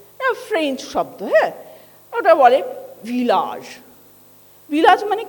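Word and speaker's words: village: ভিলেজ মানে গ্রাম, ঠিক আছে, সেটা ফ্রেঞ্চে বলে ভিলাজ। তো এই দেখো শেষে যে জটা বলছি সেটা একটা আলাদা জ, এই যে উচ্চারণের মধ্যে একটা তফাৎ, এইটা অনেকে বুঝতে পারে না।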